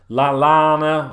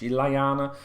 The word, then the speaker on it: Lallana: Shaqiri will be off in the summer, I expect, as will Lovren, Lallana, or Lallana, however you want to pronounce it. Double L, Spanish, Lallana.